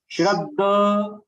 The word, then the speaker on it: Shraddha: When the second word in that middle word, when you are pronouncing Shraddha, no, it is Shraddha. Shraddha. Shraddha. D, double D. There is no H.